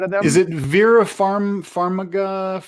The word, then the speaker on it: Farmiga: Like really pronounce it like properly because it's Vera. All right. Vera Farmiga.